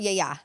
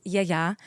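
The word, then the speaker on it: yiayia: Yaya. Yeah, it's a lot of Americans say yaya, but it's yayya.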